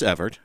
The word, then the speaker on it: Evart: Is it pronounced Evart or Evert? No, it's Evart.